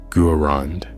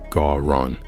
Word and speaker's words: Garand: He changed his name from Jean to John, adopted the Americanized pronunciation of his surname, Guerand, instead of the French Garon, and by all appearances became just another immigrant success story.